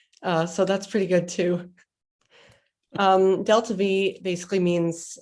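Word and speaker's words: delta-v: So yes, pronounced delta V, or delta V by enthusiastic rocket scientists.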